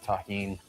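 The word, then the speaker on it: tahini: Shout out to everybody that knows the deliciousness of taheen. That's how you pronounce this.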